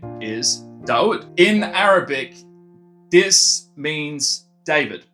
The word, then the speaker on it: Dawud: Even though this is pronounced Dawood, if that's referring to my artist name, we're actually just calling it Dawood, which is my last name.